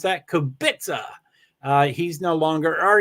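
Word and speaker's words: Kubica: do believe ham Lewis Hamilton Hull Nico hulkenberg kubitza that's how you pronounce that kobitsa uh he's no longer or he does like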